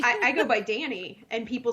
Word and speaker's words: Dani: Well, it's like, I go by Danny, and people spell it Danny, and I'm like, no, that's the boy version.